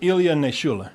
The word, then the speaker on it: Ilya Naishuller: Yeah, his name is I wasn't going to try to pronounce it. Ilya Naishuller.